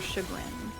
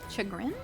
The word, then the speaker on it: chagrin: Much to my coworker chugin. Chagrin. Chagrin. I've never actually said that word out loud. How was it properly pronounced?